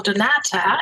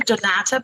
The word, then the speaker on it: Donata: you about the wonderful Donata and yes I'm pronouncing it in a very German way because there's a reason why I pronounce it this way but first of all a warm welcome to Donata Boston.